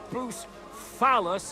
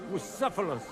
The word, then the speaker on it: Bucephalus: What kind of name is Bruce Phallus, anyway? It's pronounced Bucephalus. See now, just mispronounce the name, and we're not talking about a horse, but a cock.